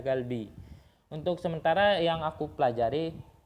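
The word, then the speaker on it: 갈비: itu kan nggak merubah biopnya menjadi sang biop, nggak dibaca kalbi tapi dibacanya galbi.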